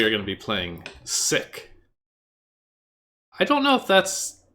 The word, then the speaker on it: sic: It's pronounced Sick? Yeah, like it is Latin.